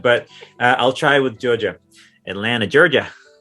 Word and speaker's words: Atlanta: i'll try with georgia atlanta georgia right you did good because you didn't say you didn't say the second t in atlanta and so that's like how you know you're saying it right at least you know